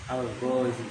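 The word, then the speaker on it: الغازي: Panjang pendek ini sangat krusial kalau di babah. Alghazzi enggak mesti dua harakat yang paling tanjangin dikit aja karena itu yang membedakan ilat dan tidak ilat ya.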